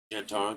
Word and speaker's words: Zhentarim: the uh I'm going to I'm going to mispronounce it. The Zhentarim is that or Zhentarim is that how I say it? Zhentarim, yeah.